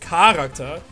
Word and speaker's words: Charakter: Und ja, ist das Charakter, weil irgendjemand hat in den Kommentaren behauptet, es heißt Charakter. Also, dass die Betonung auf K liegt. Aber das ist definitiv nicht so, also zumindest nicht im Hochdeutschen, vielleicht bei irgendeinem Dialekt.